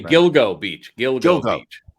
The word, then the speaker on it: Gilgo Beach: Gigolo Beach not Gigolo Gigolo Beach you just pronounce it two different ways excuse me Gilgo Beach yoga well well Gil go over there and